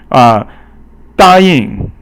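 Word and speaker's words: 答应: 答应. So 答 is first tone, and 应 is actually 轻声 or silent tone.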